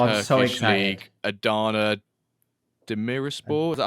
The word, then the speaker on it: Demirspor: league Adana Demirspor. Is that how you pronounce it? Yep, Demirspor.